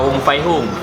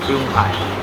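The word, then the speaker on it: Fuyunghai: Bukan Wong Fai Hung, Fyung Hai. Ya, Kadang abang pun salah bacanya.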